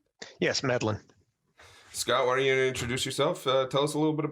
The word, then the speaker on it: Medlin: Is that how I pronounce it correctly? Yes, Medlin. Scott, why don't you introduce yourself? Tell us a little bit about yourself. Well, hello, everybody. Grizz, Jerry, I'm Scott Medlin.